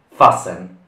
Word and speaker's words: fasten: La T è muta e quindi non si pronuncia. Fasten vuol dire allacciare.